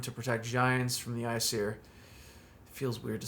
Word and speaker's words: Aesir: They say Aesir, but in the book it says it's pronounced with like I. The AE is reversed to make it always sound like an I.